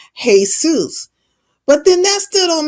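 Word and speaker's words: Jesús: Um, that J is pronounced with a H sound. It's Jesus.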